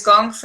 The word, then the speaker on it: gong fu: shaolin gong fu so the traditional way to say kung fu is gong fu and interestingly also gone